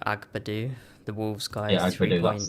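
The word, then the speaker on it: Agbadou: Yeah, Agbadu, that's how you say it.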